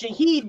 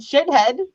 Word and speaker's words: Shahid: Well, my name is pronounced Shahid, but I'm called shithead.